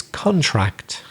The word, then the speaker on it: contract: got for you is contract similar in spanish and the pronunciation then would be for example have you signed the contract so we stress the first syllable because it's a noun it can be a